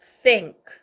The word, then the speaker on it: thank: 다음 밑에 또 번데기 발음 아랫니윈이 사이 혀를 내밀고 그 다음에 앵크 소리가 나죠. thank 그 다음에 이우 빨리 읽으면서 길게 뒤에 you 이렇게 해서 연결해서 thank you가 되고요.